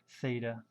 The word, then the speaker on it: theta: trig ratios s of an angle Theta that's pronounced Theta all right s is opposite over hypoten cosine